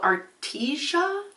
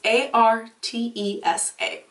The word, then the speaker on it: Artesa: And it's called Artesia, maybe how it's pronounced. It's Artesa.